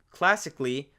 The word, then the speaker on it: classically: And there's one situation where the letter A will not be pronounced. And it seems to be when we have the letters A-L-L-Y, Ali. And when that first letter is a C, such as in this case right here, basically, classically, musically, anything that ends